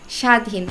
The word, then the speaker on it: স্বাধীন: উচ্চারণ একই রকম হয়েছে স্বাধীন শব্দে ব ফলার উচ্চারণ কেমন হয়েছে আসলে কি উচ্চারণ হয়েছে আমি তো দেখি না স্বাধীন যেন ব ফলার কোন অস্তিত্ব নেই আবার রাজত্ব রাজত্বেও আমি